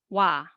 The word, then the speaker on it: ㅘ: So O plus A, wa, and O plus E, we.